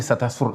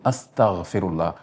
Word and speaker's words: astaghfirullah: Ne pas dire ne pas dire astaghfirullah astaghfirullah astaghfirullah non, faut dire astaghfirullah astaghfirullah astaghfirullah.